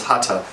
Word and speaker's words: Hatha: we normal so it's hata most English speakers would say Hatha because that's the way th is pronounced um and that that